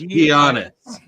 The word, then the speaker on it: Giannis: thought you were trying to pronounce Guinness. No, literally his Giannis. name is It's Giannis.